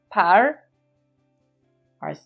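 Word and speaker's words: פרעה: Our silent letter ayin with an o vowel. And a hey at the end. Makes a sound of an H, house with a hole. Par-o. Par-o. Par-o is the Hebrew way of saying Pharaoh.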